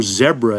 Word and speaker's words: zebra: We got to look at that zebra tarantula or zebra as uh the Brits say.